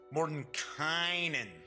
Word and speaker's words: Mordenkainen: I keep wanting to say Mordenkainen's, because to me it looks like it would be pronounced Kanan, but everybody is pronouncing it Mordenkainen.